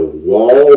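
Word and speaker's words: Wahl: have eventually bought is the wall model I don't think I'm pronouncing that wrong but it's W a HL I'll put that link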